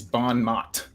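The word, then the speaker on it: bon mot: I gotta look up how the French pronunciation of that is uh it's bonmot as an American would say it um what's the range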